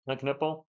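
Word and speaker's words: Kon Knueppel: The K. You do pronounce the K, Con Knuppel.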